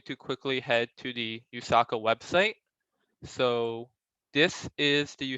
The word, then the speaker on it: USACO: So first of all, what is the USA Computing Olympiad, or commonly abbreviated to USACO, which I'll pronounce as USACO.